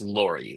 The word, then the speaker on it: Lorre: He co-created that show with Chuck Lorre, I think it's Laurie. Laurie is how you pronounce that.